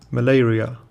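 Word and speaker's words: malaria: بیماری چی میشه مالاریا مالاریا رو باعثش میشه تلفظ مالاریا رو دقت کنید ملیریا ملیریا در بعضی از کشورها از جمله ایران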